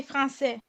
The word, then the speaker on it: français: And you don't pronounce the S when you say français. Français.